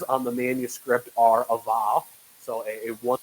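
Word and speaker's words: ו: the manuscript are a vav. So a one letter, the sort of there, it's W, it's pronounced W-O-W, but we pronounce it va.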